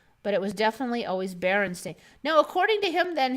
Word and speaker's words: Berenstain: adaptation series were produced using a pronunciation of berenstain that could easily be misinterpreted to be berenstein okay so yeah no